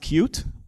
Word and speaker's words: Qt: Now, if you're not familiar with Qt, which is actually pronounced cute, so why did you write it Qt?